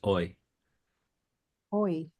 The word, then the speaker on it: oi: you from reading if you don't want it's oi oi Is that check somehow?